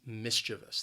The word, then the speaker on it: mischievous: maybe somebody is mischievous the word has three syllables the stress is on that first syllable and both that second and third syllable have that schwa sound but again the spelling can kind of throw you off when you want to say and pronounce this word so keep that in mind especially that second syllable that that sound mischievous mischievous today with me mischievous